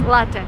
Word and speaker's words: latte: And don't say latte. This is like the worst thing I've ever heard. It's latte. Latte is an Italian word. So, if you drink coffee, it's latte, not latte.